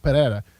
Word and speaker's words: Pereira: I have to say it the right way Pereira that's the only way I can pronounce it he's a freak this guy is